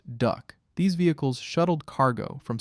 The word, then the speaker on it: DUKW: The key to beach logistics was the DUKW, an amphibious truck that soldiers pronounced duck.